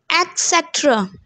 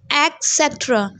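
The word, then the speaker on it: et cetera: Etc. Mostly log isko padhte hain etc. Matlab EK. It's not etc, it's etc. There is a ta, not ka, ta.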